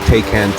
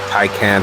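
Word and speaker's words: Taycan: here is the 2020 Porsche takan Turbo or tyan however you want to pronounce it however you want to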